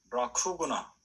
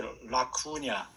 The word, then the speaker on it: LaCugna: 그 사람의 이제 칼 라너의 제자가 라쿠구나 혹은 라구냐라고 번역하기도, 이 라틴어 이름이 LACUGNA 그렇게 돼요. G하고 N이 붙으면 그게 냐가 되거든. 근데 그래서 라쿠냐, 근데 라쿠구나 그렇게 이제 읽기도 하고 라쿠냐라고 읽기도 하는데, 그 여자분이 요절했어요.